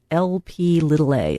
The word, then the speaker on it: Lp(a): We have this other thing that is a lipoprotein that is pronounced Lp(a). It's written capital L, lowercase p, parentheses A, and then this is a risk factor for heart disease.